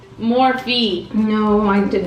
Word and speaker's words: Morphe: Because she always says, you say it wrong. I think it's Morphe, yeah. My mom was saying morph.